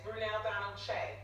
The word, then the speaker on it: Brunell-Donald Kyei: It's Brunell-Donald Kyei.